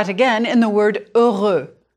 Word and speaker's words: heure: It's important to distinguish between the sound, de, and the more open sound of in the word heure. Start with girl in English again. You need to open your mouth more, keeping your lips rounded. Your tongue is more in the middle of your mouth than with de.